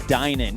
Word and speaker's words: Denon: That is actually pronounced Dynan.